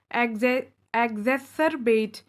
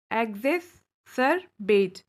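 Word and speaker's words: exacerbate: एग्जेसरबेट, एग्जेसरबेट, pronunciation पे ध्यान दीजिएगा आप लोग।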